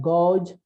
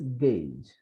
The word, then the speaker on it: gauge: It is not gauge, but it is gauge.